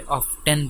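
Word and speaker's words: often: इसे American ऑफन पढ़ते हैं और ब्रिटिश वाले ऑफ्टन पढ़ते हैं, टी को साइलेंट नहीं करते। दोनों तरीके दुरुस्त हैं पढ़ने के।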